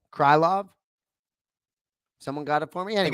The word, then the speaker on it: Krylov: taylp well done so the pronunciation that i didn't know was krylov or krillov but it's nikita krylov someone got it for